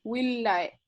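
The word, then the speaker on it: villae: Después de la H, lo importante era que supieran que la doble L no se pronuncia como llano, sino que se pronuncia L, 2 L. y la B corta como U, entonces willae.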